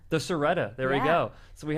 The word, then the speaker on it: Siretta: The Seretta. The Seretta.